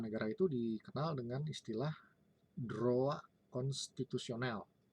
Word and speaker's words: droit: Nah, kalau di Prancis, hukum tata negara itu dikenal dengan istilah droit constitutionnel. Tulisannya droit, tapi kita membacanya droit. Ya. Nah, jangan Prancis itu OI dibaca OA.